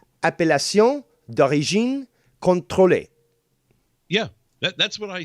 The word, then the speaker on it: appellation: the aoc stamp on cheeses and it's uh pronounced appellacion yeah that's what i said that's just not